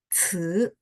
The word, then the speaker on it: 词: 生词 ingat ya, CI bacanya 词, tapi ini nada dua ya, jadi makanya bacanya 词. 生词 i-nya tidak bunyi i tapi bunyi gitu ya.